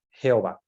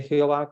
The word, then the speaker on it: Jehová: que es el original Pero ellos en español le pronuncian como Jehová porque no pronuncian la H y la i del inicio se convierte como en una J porque el sonido en español a sonaba más como una jota que como una y verdad de todos modos